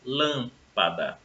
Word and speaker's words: lâmpada: Lâmpada. Lâmpada recebe acento porque ela é uma palavra proparoxítona, né? A sílaba tônica é a antepenúltima.